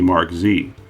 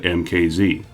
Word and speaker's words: MKZ: This time they wanted the letters MK to be pronounced as Mark, so the Zephyr's new name would be Mark Z.